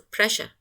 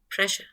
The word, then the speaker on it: pressure: of this morpheme press when we add the derivational suffix ure to this morpheme it turns from press into presh because this word is pronounced as a pressure pressure so it is pronounced